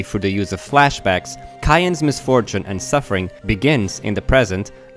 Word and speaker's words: Cyan: Yes, that's how I pronounce his name, with a hard C, because that's closer to the way it's written in the original Japanese, but you're free to say Cyan if you want, that's totally fine too.